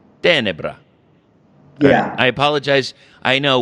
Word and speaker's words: Tenebra: reach out to the band and am i pronouncing it right is it tenebra it's uh it's more like tenebra yeah i apologize i know we're gonna have